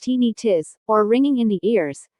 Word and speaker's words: tinnitus: Tinnitus, pronounced tinnitus, or ringing in the ears, is the sensation of hearing ringing, buzzing, hissing, chirping, whistling, or other sounds.